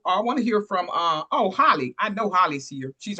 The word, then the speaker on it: Holly: Take it away, Holly. Thank you so much. Good day. I'm Holly, pronounced like hallelujah.